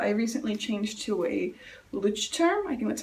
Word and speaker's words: Leuchtturm: I have been really into moleskins for a long time, but I recently changed to a Leuchtturm. I think that's how you pronounce it.